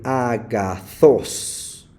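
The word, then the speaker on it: ἀγαθός: Por ejemplo, cuando aparece en la última sílaba, como en este caso, aquí dice agazos. Y a esta palabra se clasifica como oxítona cuando el signo agudo aparece en la última sílaba, se llama oxítona.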